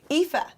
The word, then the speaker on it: Aoife: Aofi? Aofi. Aofi. Aoife. It's such a fabulous name, but yeah, Aofi.